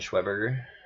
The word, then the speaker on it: Schweberger: I'm coming for you, Brian Schweberger. That's how you say it.